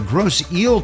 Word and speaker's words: Grosse Ile: The name of the bridge and community should be the Grosse Ile Toll Bridge and Grosse Ile, Michigan. We mispronounced that, and we apologize for the mispronunciation